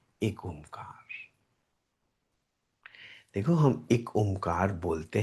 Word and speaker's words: एक ओमकार: एक ओमकार इज a generally spoken pronunciation of this reality truth. एक ओमकार. अगर मैं एक अमकार बोल दूं, तो कोई गलत तो नहीं है इसमें। एकमकार, वो भी ठीक ही तो है।